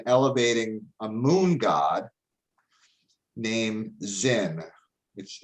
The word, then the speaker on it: Sin: a moon god named zinn which it's pretty it's it looks like sin but it's actually pronounced zin so this angered the